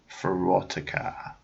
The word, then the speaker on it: Verotika: The movie for Verotika. I'm going to say it like that because it sounds like erotica.